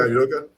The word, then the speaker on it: Udoka: Yeah, Udoka.